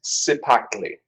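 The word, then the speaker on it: Cipactli: This- I've got the official pronunciation. It is Sipakli. Sepactly.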